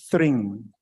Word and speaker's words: Thring: I think the honorable member had a problem with pronunciation. It's Thring.